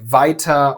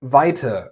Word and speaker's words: weiter: He says something like "weiter" or "schneller". It's a subtle difference, but it's kind of a big deal. "Er" in British is "uh", but in German is always pronounced "ah", a somewhat dull "ah".